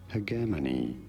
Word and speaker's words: hegemony: This is said as hegemony with a hard G and an emphasis on the second syllable. Hegemony. In American English, however, it is usually said as hegemony.